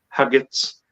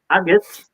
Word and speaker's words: haggis: Haggis. See, I pronounced my H there all right, didn't I? Haggis. Yeah. Agates.